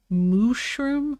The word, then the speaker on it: Mooshroom: the pun what no you need me to say Mooshroom no moo shroom there we go oh